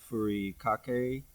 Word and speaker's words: furikake: Sakana, furikake, Mm-hmm.